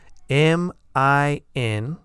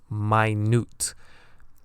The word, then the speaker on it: minute: M-I-N-U-T-E. This word also has two pronunciations and two different meanings. Number 1 is minute.